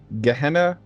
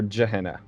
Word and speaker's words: Gehenna: there's two ways to pronounce it you can pronounce it gehenna or jahena but yeah gehenna is the spiritual plane where